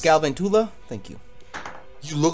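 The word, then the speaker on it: Galvantula: It's pronounced Galventula. Thank you. You look like a Gavin Tula.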